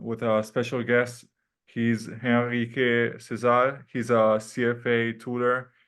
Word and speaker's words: Henrique: Like Giacomo said, my name is Henrique Cesar, or Henrique Cesar, or Henrique, like they pronounce in Portuguese.